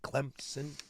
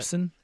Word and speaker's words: Clemson: I don't want to hear about your soft P. Just look at the Wow. Just look at the way it's spelled. There's no P.